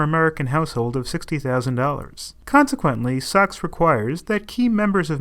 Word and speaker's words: SOX: In 2002, Congress passed the Sarbanes-Oxley Act, abbreviated SOX and pronounced SOX.